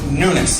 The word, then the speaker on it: Nunes: my last name is m-u-n-e-s pronounced Nunes like the newness of life we have in Jesus